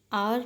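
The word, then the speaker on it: hour: The girl is a pilot, it takes me एन आवर टू गेट to school, आवर में एच जो है वो silent है, आवर में आ की साउंड आ रही है, इसीलिए एन लगाना है।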